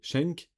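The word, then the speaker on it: Schenck: produit par Joseph M Schneek Shenk c'est ça je sais pas comment on Oui c'est ça ça se prononce comme ça distribué du coup par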